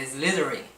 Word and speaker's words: Slytherin: Eu tenho problema com Slytherin, porque eu sempre me confundo na pronúncia, mas é Slytherin.